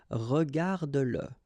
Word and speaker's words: regarde-le: like in that case, then you will have to pronounce it. Okay, so regarde-le, regarde-le.